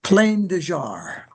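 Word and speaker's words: Plain des Jarres: Is it plain de jar? What, how do you say that? Because I said it wrong. Is it's it plain de French. jar? It's plain de jar.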